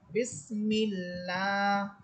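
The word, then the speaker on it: بسم الله: বা সিনদের বিস, মিম লামসের মিল, বিস মিল, লাম খারাস বড় লা, এখানে আল্লাহ শব্দের পূর্বে আছে জের, এই জন্য আল্লাহ শব্দটা চিকন করে পড়তে হবে। বিসমিল্লাহ, হারাসের হির, র হাসবর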